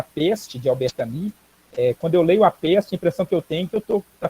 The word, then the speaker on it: Camus: Escreve Camus, mas no francês o U você pode pronunciar I e o S não precisa pronunciar. Então ficaria Albert Camus.